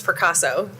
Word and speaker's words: Fracasso: You did a great job. It's Fracasso.